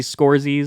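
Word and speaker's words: Scorsese: epic it is a masterpiece it is Marty scores that's how you pronounce it and you did it right dude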